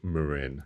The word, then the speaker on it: Marin: No, it is pronounced, technically it is pronounced Marin.